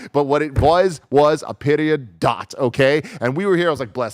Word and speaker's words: Peridot: It ain't Peridot, everybody. It's Peridot. It's Peridot, okay? Wow. Thanks, Kebabs, for correcting us. Wow. Peridot. I'm sorry. Who would have thought after all of this? I mean, usually when it comes to pronunciations, like I'm able to nail the phonetic shit sometimes, but goddamn, yeah, I was off. I was way off. It's exactly like it looks, everybody.